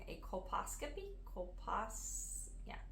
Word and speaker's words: colposcopy: to go in four and I will probably pronounce this wrong a colposcopy copas yeah colposcopy c-o-l-p-o s-c-o-p-y colposcopy yes I think so and